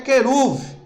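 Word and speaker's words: כרוב: Querubim no original hebraico é queruv.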